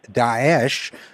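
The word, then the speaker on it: Daesh: calling it prefer rather to call it D dases which is the Arabic pronunciation of the but also sounds a little bit like I think an impolite Arabic word so should we start calling it dases you know I think I think this is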